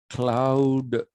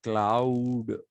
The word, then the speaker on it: Claude: It's not pronounced cloud like I have been doing it. I was doing it so that you know that it is Clau.